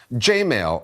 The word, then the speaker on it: Jmail: Jmail, and that's not a mispronunciation, is here to help.